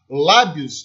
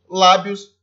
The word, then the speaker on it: lábios: lábios e fez o sinal que entrasse né lábios da minha palavra que deixar ela é paroxítona porque a sílaba tônica lá deus ela está na penúltima sílaba da palavra por isso lábios a palavra aí paroxítona e por sim a